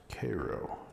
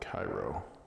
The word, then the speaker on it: Cairo: all to Koo and it is pronounced Koo not Cairo all right those are